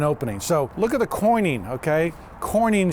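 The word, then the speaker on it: quoin: So look at the coining, okay? Coining spelled with a Q, okay?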